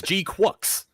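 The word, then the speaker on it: GQuuuuuuX: Next up, we got G-Cux. Gundam G-Quacks. G-Cux. It's a G-Quacks or Quacks. Yeah, I think it's Quacks. Maybe, but they say they just pronounce it G-Cux. they literally say it's G-Quacks.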